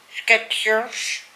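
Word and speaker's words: Skechers: dan sketchers ja dus staat geen thee in en toch spreek je het uit met een thee sketchers s k e c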